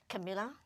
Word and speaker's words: Camila: you say her name Camila Camila yeah just say the flower but a a different spelling I always wonder when